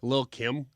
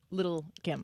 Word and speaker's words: Lil Kim: also you correctly did not pronounce the T's in Little Kim. Well, because it's Lil.